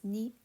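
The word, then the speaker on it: ね: which is inside this character is NE kind of like KNE like my knee um it looks a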